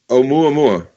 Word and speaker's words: Oumuamua: It's Oumuamua. It's Hawaiian, so you can just kind of think Oumuamua.